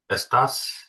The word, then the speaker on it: estás: Estas. Yeah, good. With the pop on the A, it is actually really important, that accent.